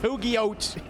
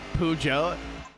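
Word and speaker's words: Peugeot: Also, as somebody who speaks French, uh, hearing an American try to pronounce pug pogot.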